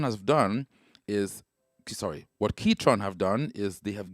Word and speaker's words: Ketron: done is sorry what ketron have done is they have given you and that's the official pronunciation it's actually ketron right not catron ketron keyboard electronics keytron so what keytron have